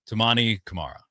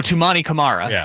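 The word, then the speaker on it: Toumani Camara: Number 100, Tumani Kamar. Who is it? Uh, I might have said his his name wrong. Tumani. Oh, Tumani Kamara. Yes.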